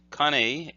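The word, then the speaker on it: 蟹: incorrect it should be Connie ka and I Connie Connie is this character and means a crab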